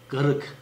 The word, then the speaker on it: karık: Mesela garık. Yani bu üretimle bizim oralarda kullanılan garık kelimesi var. Yani karık diye mesela yazılıyor ama bizim orada nasıl okunuyor? Garık.